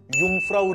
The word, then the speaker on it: Jungfrau: बघायचं आहे स्विट्जरलँड मधला युमफ्राऊ रीजन त्याचं स्पेलिंग वेगळं आहे मी टेक्स्ट मध्ये तुम्हाला